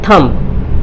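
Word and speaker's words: thumb: जैसे अगर B silent हो तो, जैसे ये एम के बाद अगर बी हो, एम के बाद बी हो तो बी प्राय साइलेंट रहता है।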